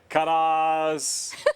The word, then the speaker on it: Kaddas: Kaddas. It sounds like ta-da.